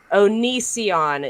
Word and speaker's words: Onision: Onision is the correct way to pronounce that.